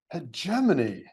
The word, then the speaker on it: hegemony: Hegemony. It sounds a bird word. It is not very many letters, but it does have a lot of syllables in it for--yeah, that is a four-syllable word.